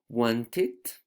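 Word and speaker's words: wanted: chart only for pronunciation remember that the words ending in T's for example here want that ends in T and the verb need that ends in D you add et because this is a regular verb but the pronunciation is with Edie like it okay for example want it need it okay need it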